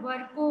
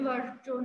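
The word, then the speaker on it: Virchow: यू नहीं आएगा और एक जो आपने प्रोनाउंस किया था वर्को होता है इसको वर्को बोलते हैं वर्चोन नहीं बोलेंगे वर्को बोलेंगे ठीक है अब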